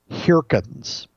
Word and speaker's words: Heerkens: Oh, one other great book, Project Management, the Briefcase Series by Gary Hirkens. Last name is spelled Heerkens. And Gary Hirkens' book, here's why you'll love this.